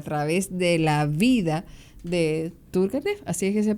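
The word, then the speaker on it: Turguénev: En el caso de Rusia, que es la otra frontera, y a través de la vida de Turkenf, así es que se pronuncia, es que entendemos cómo este autor, pero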